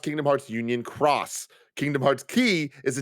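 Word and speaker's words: Kingdom Hearts Union χ: some that i respect it's pronounced kingdom hearts union cross kingdom hearts key is a different older game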